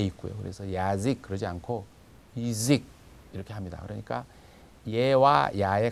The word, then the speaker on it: язык: 그런데 강세가 야에 없어요. 그 뒤에 있는 모음 의에 있고요. 그래서 야직 그러지 않고 이직 이렇게 합니다.